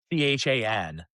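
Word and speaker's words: Achane: And apparently he went over to New Orleans and went, oh, by the way, Achan, Aychan is like the phonetic spelling pronunciation of his name.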